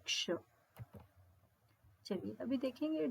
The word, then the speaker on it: क्ष: उसको ओडिया में क्ष कहते हैं। हिंदी में उसका सही प्रोनाउंसशन है क्ष।